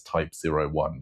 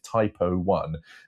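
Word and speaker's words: Type 01: Uh but the uh zero one thing, I think you have to pronounce it as type zero one because if you say type O one, makes it sound like a bit of a bit of a mistake.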